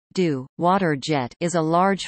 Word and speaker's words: Jet d'Eau: The jet d'eau, French pronunciation, d'eau, water jet, is a large fountain in Geneva,